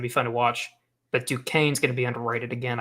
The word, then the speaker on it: Duquesne: helping educate people on how to pronounce Duquesne, because it does not look like it should be pronounced the way it is.